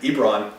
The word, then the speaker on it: Ebron: You said his name wrong like 5 different ways now, and I said it. Ebron.